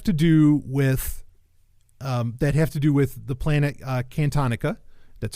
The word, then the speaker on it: Cantonica: And these are 4 stories, I think it was 4, that have to do with the planet Cantonica. That's how you pronounce it.